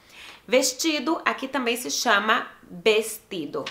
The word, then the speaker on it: vestido: Vestido aqui também se chama vestido. Se escreve igual, só que o V aqui se chama como se fosse B, então é vestido.